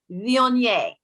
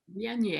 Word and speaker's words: Viognier: See, that's the pronunciation. I want to make this perfectly clear. Viognier. Viognier.